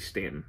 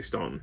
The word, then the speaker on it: Staunton: some of those like stanton i think they're pronounced that way but i'm going to say stone because that's how it's spelled um and it's kind